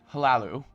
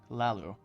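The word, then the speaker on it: Hlaalu: can I serve you the H by the way I found out is silent so Lalu sorry I've been saying hello it's Lalu um okay I already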